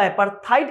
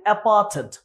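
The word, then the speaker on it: apartheid: আমরা কি অ্যাপার্থেড বা অ্যাপার্থাইড উচ্চারণ করি, বাট উচ্চারণ হচ্ছে অ্যাপার্থেড।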